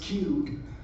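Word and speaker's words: QEWD: Okay, the next one I'm going to talk about is called, I believe this is pronounced Qwd. This is a fairly recent one. It's spelled Q-E-W-D.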